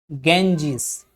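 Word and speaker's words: Ganges: तो हम पढ़ेंगे जब, तो हम क्या पढ़ेंगे इसको, गंगेश। लेकिन जब जो इंग्लिश है, तो ब्रिटिश इंग्लिश में इसको क्या पढ़ा जाएगा, गैंजिस। वो इसको ना तो गंगा बोलेंगे ना गंगेज बोलेंगे, वो बोलेंगे गैंजिस। समझ में आ रही है,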